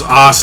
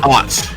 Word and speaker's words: aughts: Scott got so flustered he pronounced it as Os lifestyle when it's the 2000s lifestyle that they were trying to go for. The aughts. They are called the aughts.